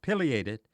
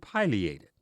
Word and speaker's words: pileated: l a t d is pronounced either of two ways there seems to be no consensus on a definitive single pronunciation ask several of your